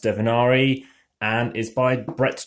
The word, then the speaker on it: Divinare: Hi everyone, this is Divinare, not Divinare, it's pronounced Divinare, and is by Brett J.